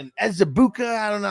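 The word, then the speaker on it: Ezeiruaku: DT or green um or Ezabuka. I don't know how to pronounce his name or do they take Caleb? They take Johnson. Smart. They took Ezrau. There you go. That's how you pronounce it.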